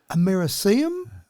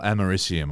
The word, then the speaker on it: americium: So, because it's got a C in the middle of it there, which you wouldn't say a K sound to, but I've always thought americium.